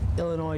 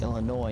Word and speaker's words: Illinois: illinois thank you genome illinois does not have a z on the end it has an s right but it's pronounced illinois not illinois with